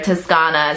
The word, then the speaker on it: Toscana: property now in Tuscany, or Toscana is how you say it in Italian.